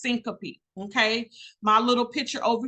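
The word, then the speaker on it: syncope: faint the medical terminology word for fainting is pronounced Syncopy okay my little picture over here with the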